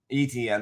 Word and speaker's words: Etienne: So Kenneth Walker, Travis, I can never pronounce Etienne. Etienne, there you go.